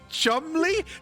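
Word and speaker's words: Cholmondeley: This is apparently the word that is pronounced chumly. Cholmon delay is what it is.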